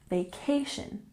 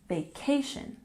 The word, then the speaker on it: vacation: while while and V vacation has emphasis on the second syllable vacation vacation good 29 break out